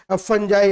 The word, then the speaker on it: Fungi: Spellings में कोई गलती होने की गुंजाइश नहीं है। फंजाई, FUNGI, फंजाई, ये थर्ड किंगडम है इस क्लासिफिकेशन का।